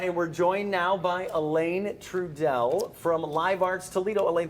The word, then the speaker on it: Alain Trudel: Uh and we're joined now by Elaine Trudeell from Live Arts Toledo.